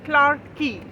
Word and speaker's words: Clarke Quay: on the sides of the Singapore River in Clark key so it is spelled as c-l-a-r-k q-u-a-y but they call it